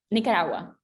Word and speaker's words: Nicaragua: so you're gonna but what how do you pronounce nicaragua nicaragua yeah that was way better and wait so